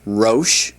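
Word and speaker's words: ראש: It's pronounced rosh, rosh.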